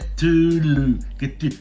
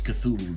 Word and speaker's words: Cthulhu: I mean, it took me a couple of years to pronounce uh Kulu. Then then my daughter said it's Cthulhu. Then uh thanks.